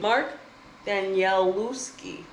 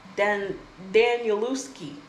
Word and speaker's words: Danielewski: Mark Danielewski. Danielewski.